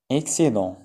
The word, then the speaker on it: excédent: فائض excédent on ne prononce pas T.